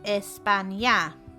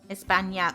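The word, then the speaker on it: España: just a heads up it's pronounced Espana okay Espana oh yeah you got the weird wiggle on the end the wiggle yeah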